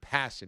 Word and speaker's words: Passan: And just so you know, Jeff Passan pronounces his name Passan.